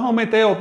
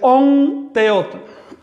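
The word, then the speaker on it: Ometeotl: Así que esa m se me transforma en on. Si quiere decir divina dualidad no es ometeot, es on teot.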